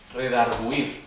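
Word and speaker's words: redargüir: La U con diéresis, que es U con dos puntitos arriba. Ah, Significa que sí suena la U.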